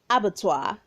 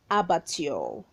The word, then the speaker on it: abattoir: we have abattoir abattoir say abattoir not abatio right number 28 we